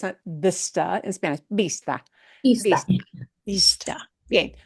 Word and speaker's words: vista: used for names of towns, and that is vista. Vista. Vista. Vista, which does mean view. Yeah. A vista in English, but we don't pronounce it vista in Spanish.